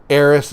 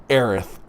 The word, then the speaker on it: Aerith: of Final Fantasy 7 the original us for the version Eris is pronounced Aerith I'm sorry it's an